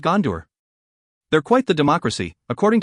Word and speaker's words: Gondor: to catch myself when I mispronounce it Dar instead of door aren't they assisting artists